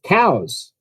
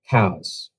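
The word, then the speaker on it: Cowes: that correctly madon um cows of course it's in the uk cows spelled c-o-w-e-s in the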